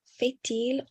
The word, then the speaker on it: fait-il: So here with fait-il, we also carry the T for the next word, which begins with a vowel. Donc, quel temps fait-il en été?